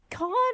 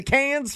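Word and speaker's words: Cannes: Yeah, it's can.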